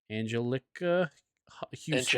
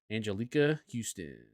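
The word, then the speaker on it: Anjelica Huston: Angelica Houston. Angelica. There you go. Angelica Houston.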